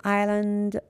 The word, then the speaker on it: island: come L is silent Island s is silent and next is linking